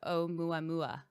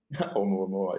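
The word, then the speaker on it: ʻOumuamua: The Omuamua. Omuamua, yeah.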